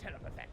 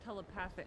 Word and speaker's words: telepathic: telepathetic perhaps we're all telepathetic it's pronounced telepathic ah never mind are